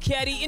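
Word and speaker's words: Cawdur: It's your boy C-A-W-D-U-R, pronounced Caddy.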